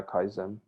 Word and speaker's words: kaizen: How do you pronounce it? Yeah, Kaizen. The Kaizen.